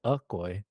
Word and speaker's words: Okoy: all spelled out, but does Okoy start with an O or a U? It's Okoy. Okay. Okay. All right. Oh, okay. All right. Because every time I hear people pronounce it, I'm just like, wait, Okoy or Ukoy? Some people pronounce it at ukoy. I don't know if other province, but Okay. yeah, I grew up knowing it's Okoy. Okoy.